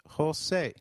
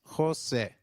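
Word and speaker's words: José: e I in 8 the letter J sounds like H in Spanish so try saying Jose it is Jose you will encounter a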